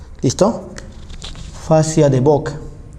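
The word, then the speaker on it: Buck: se llama facia de boc. ¿Listo? Facia de BOC. Se escribe facia de book. Listo. Pero es la facia de BOC.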